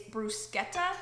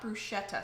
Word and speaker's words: bruschetta: not you all help me pronounce with the pronunciation of it's bruschetta not bruschetta so thank you I'm pretty sure I'm saying